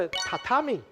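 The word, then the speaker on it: 榻榻米: 来，我公布答案，这是一个日文的汉字，发音叫做榻榻米。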